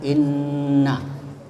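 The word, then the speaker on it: إِنَّ: pertama kata Inna ya Inna itu kalau dalam ilmu it disebut gunah ya gunah itu mendengung jadi bacanya Inna ya kemudian alladzina ah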